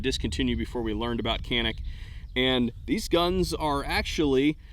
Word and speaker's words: Canik: a straight answer from Kanak or Sonic as they pronounce it in Turkey these are Turkish imported